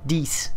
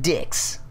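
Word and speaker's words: dix: no I don't know it's what DS but it's spelled di X so it was like dicks CCC but I you know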